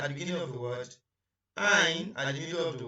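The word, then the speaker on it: عين: And this is Ainun, Ainun. And the name is Ain, just as if you are pronouncing I or I, but the name is Ain in short form.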